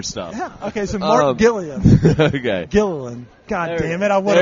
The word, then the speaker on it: Gillian: It's Gilligan with an L instead of a G. Oh, yeah. Yeah, I could have 3-hour tour stuff. Yeah. Okay, so Mark Gillian.